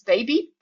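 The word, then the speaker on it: bebé: So in Spanish, be with an accent on the last T, it's baby, while without the accent is the verb to drink.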